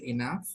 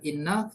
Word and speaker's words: enough: Kemudian kalau mau bilang cukup, ya cukup itu bukan enough tapi bacanya kayak gini, Bro. Jadi bacanya enough, enough. Enough. Nah, tulisannya pakai GH tapi bacanya pakai F.